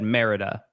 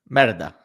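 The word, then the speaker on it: Mérida: Merida. I think is how you say it. I every person in Mexico that I heard talk about it said Merida. Merida.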